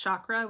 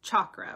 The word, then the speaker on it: chakra: might hear it's pronounced chakra which is I pronounce it or chakra Thank You Brandi for linking Tisha's page you might hear it pronounced chakra with a more pronounced ch hi Rick that's one